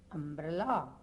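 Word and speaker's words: umbrella: இந்த இடத்துல யூம்ப்ரெல்லான்னு சொல்கிறது இல்லை, ஆன் அம்ப்ரெல்லா.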